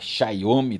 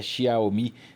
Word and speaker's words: Xiaomi: falando da xiaomi né xomi também como se fala mas é xiaomi que se lê exatamente muito bem Renato Ross